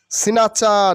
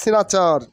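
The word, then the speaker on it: snatcher: press ওয়াদী মানে প্রশংসনীয় সিনাচা নট সিনাচার সিনাচা means ছিন্তাইকারী সিনাচা mean সিন্তাইকারী সিনাচা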